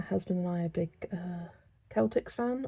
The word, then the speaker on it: Celtics: My husband and I are big Celtics fan, or is it Celtics? Because I said it wrong last time. It's the second, the Celtics.